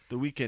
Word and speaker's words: The Weeknd: The Weeknd.